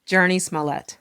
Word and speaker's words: Jurnee Smollett: Jurnee Smollett.